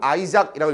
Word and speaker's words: Isaac: 니네 이삭 토스트 할 때도 이걸 이삭을 쓰는데 아이작 뉴턴처럼 이 사람 출생지에 따라서 발음은 아이작이라고 읽어주고 아시모프라고 합니다.